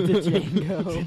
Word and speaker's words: Django: That was a great Django movie. Unchained, definitely a superhero movie. It's Django. The Django. Django. The D is silent.